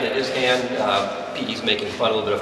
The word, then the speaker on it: Hann: my name is Hann and Tom got it right in his hand he's making fun of a fun put a